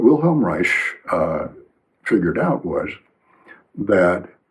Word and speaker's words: Reich: Wilhelm Reich re ei proper pronunciation is rich like that with a soft sh at the end because it's Austrian not German. In Germany it would be Reich, but in Austria it's rich. What will Helm Rich uh